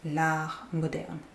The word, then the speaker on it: l'art moderne: So the T in art is silent. L'art moderne.